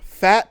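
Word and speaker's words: Phatt: are football players right full back fat Watts and then fat is spelled p-h-a-t-t fat Watts I've I've uh I've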